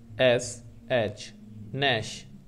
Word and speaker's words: gnash: इसी तरीके से G जिसमें साइलेंट हो G जिसमें साइलेंट हो, ऐसे दो वर्ड कौन से हो सकते हैं। तो एक होता है GNASH नैश, एक होता है नैश, और एक पढ़ते हैं GNAW नो।